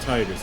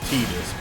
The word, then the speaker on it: Tidus: And yes, I'm aware that it's not Tidus, it's Tidus, but I don't like that pronunciation, so I'm not going to go with it.